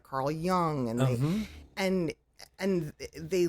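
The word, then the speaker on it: Jung: we know of is Young yes and and and many many young pagans no pun intended don't understand that um by the way it's spelled j u n g for those when it's young yeah um and it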